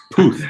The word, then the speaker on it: Puth: Puth rhymes with Maybe with he'll tooth.